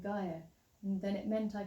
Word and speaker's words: Gaiea: he said, hey look, your name is Gaia without the consonants. So, and that's why it's spelt like it is, G-A-I-E-A, Gaia.